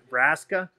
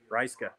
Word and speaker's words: Ryska: Listen, I touch this every time, and every time I screw it up, is it Raska? Ryska. So Ryska, please, Ebonics, spell it out for me.